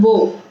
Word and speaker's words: bow: this so in that this thing is called bo in which the arrows put this card this